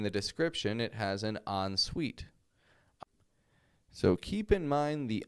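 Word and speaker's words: en suite: Whenever you move to a new apartment or wherever you go, you may see in the description it has an on suite.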